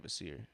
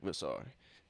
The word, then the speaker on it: Vassar: I think we've all been saying his name wrong though. I've been saying Vasir, but it looks definitely like Vasar. Now that the announcer pronounced it, I get it. I've been saying it wrong.